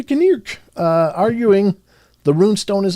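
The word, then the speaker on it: Knirk: K N I R Kirk. It's a Kirk.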